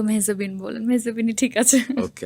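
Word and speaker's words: মেহজাবীন: Well like সবাই তো মেহজাবিন বলে, তো এটার উচ্চারণটা আসলে একদমই অন্যরকম। ইটস মেহজাবি। মেহজাবি? হ্যাঁ, এন বা ন, আচ্ছা, এটা কিন্তু সাইলেন্ট।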